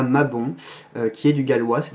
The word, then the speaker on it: Mabon: Donc avec un O ouvert, pas un O fermé, on ne dit pas Mabon, mais Mabon.